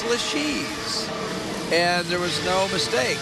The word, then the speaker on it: LeShe's: A lot of people mispronounce that. They say the Order of Lashes or LeShe's, but it's LeShe's.